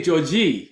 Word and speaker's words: Jorge: When I see the J in your name, I'm thinking Jorge, right? Yeah, right. It's weird. Like, people Yeah. don't understand. It's Portuguese because we pronounce it differently at the end. Wow. In Brazil, they actually say Jorge. They say Georgie. Yeah, Jorge. Yeah, Really? Really? It's different. Yeah, their accent is, people say a lot more elegant to the ears.